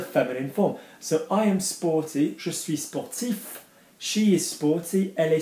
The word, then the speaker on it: sport: a spa which is Sport okay notice we're not pronouncing the T as per nor because